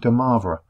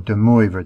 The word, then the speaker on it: de Moivre: The gentleman on the screen is called de Moivre, or de Moivre, depending on your pronunciation, and is a very famous mathematician in terms of looking at complex numbers, certainly.